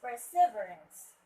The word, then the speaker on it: perseverance: It's perseverance. Perseverance. The stress word should be at the third syllable, right?